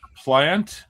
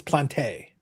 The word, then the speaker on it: Plante: Jacqu plant was also plant for crying out loud. Can you not pronunciate names? Bobby. Bobby, listen. Stop spreading misinformation. Bobby, stop spreading misinformation. Everybody knows it's plante.